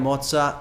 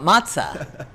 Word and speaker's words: Mozza: We are at Oidia Moza with none other than Nancy Silverton.